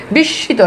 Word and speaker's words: বিস্মিত: বিস্মিত, দেখেন শয়ের দ্বিত্ব হয়েছে।